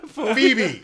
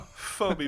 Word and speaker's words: Phoebe: Phoebe.